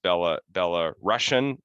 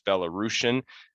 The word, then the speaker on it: Belarusian: emphasizing that i think some people mispronounce it as bella bella russian but i was told no it's belarusian uh important to emphasize